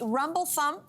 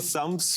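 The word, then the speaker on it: Rumbledethumps: Let me try to pronounce it, although your name is challenging enough for me. It is the rumble thump Rumbledy Rumbledy Thumps Fish Pie.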